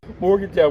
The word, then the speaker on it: Morgantown: Morgantown, we stop at 3 syllables.